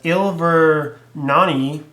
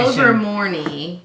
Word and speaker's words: Ilvermorny: So, but anyway, the 4 houses she revealed was Ilvernani. Hold on, give me the thing. There's a pronunciation. Yeah, I tried to say the pronunciation. Ilvermorny.